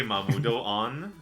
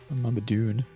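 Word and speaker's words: Mamudoon: Do you say Mamudo-on or do you say Mamudun? Mamadune. Yeah, who's gonna say Mamudo-on? Dumb.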